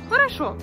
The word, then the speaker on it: хорошо: Dans le mot хорошо, il y a 3 voyelles O. Et cependant, une seule se prononce O. Parce que les deux autres ne sont pas accentuées. C'est pour ça qu'on dit хорошо.